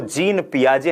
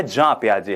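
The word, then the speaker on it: Piaget: हम आमतौर पर उन्हें जीन पियाजे कहते हैं क्योंकि अंग्रेजी में उनके नाम की वर्तनी J-E-A-N P-I-A-G-E-T है। लेकिन उनके नाम का सही उच्चारण जीन पियाजे नहीं है; यह जीन पियाजे हैं।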